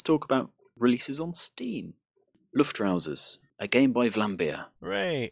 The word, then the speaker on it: Luftrausers: How do you pronounce it, DerRidda? Luftrausers.